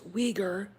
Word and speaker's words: Uyghur: And apparently the movie was filmed next door to a Uyghur, it is pronounced Uyghur, concentration camp.